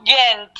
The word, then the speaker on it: Gent: uh which is called G close to G pronounce that again close close to gent very close to gent oh very close close